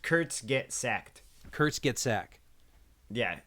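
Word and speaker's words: Kurzgesagt: the Kurtz cassette what did I say it's pronounced Kurtz get sacked Kurtz get sack yeah Kurtz get sacked with a tea at the end like sect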